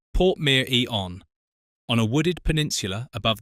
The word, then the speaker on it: Portmeirion: Pronounced Portmeirion.